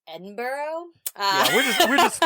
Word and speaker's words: Edinburgh: because Edinburgh, by the way, is it Edinburghough? Is it Edinburghough, Scotland? Edinburghough probably. You know how good I am at pronouncing things.